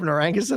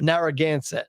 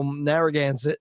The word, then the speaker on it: Narragansett: vacation and i was like yo they have narang said on tap yeah man yeah brian brian sent me and he's like well how was it pronounced bob they're against narragansett yeah so narragansett and um he's like yeah they're charging me